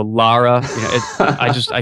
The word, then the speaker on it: Lara: I've been saying Laura forever. So, Lara, yeah, it I just I can't Lara.